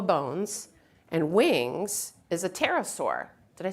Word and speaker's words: pterosaur: So one of the first dinosaurs that had hollow bones and wings is a pterosaur. Did I say that right, you guys? Pterosaur, okay? with a P. With a silent P.